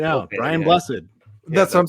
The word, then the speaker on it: Blessed: a Brian blessed or I don't know if his last name is pronounced blessed it's blessed yeah is it yeah